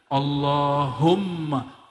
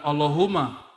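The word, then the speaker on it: اللهم: situ ada mimnya Allahumma Gimana cara bacanya nya Allahumma bukan Allahuma allahum dia mesti ditasdidkan Allahumma ya dan dia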